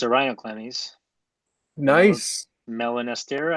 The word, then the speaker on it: melanosterna: Melanostera? I don't know how to say it. Nice. Melanosterna. Yeah. Wonderful.